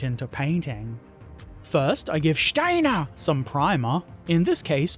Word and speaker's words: Steiner: this Oberst Kurt Steiner you have to say it like that Steiner or else the figure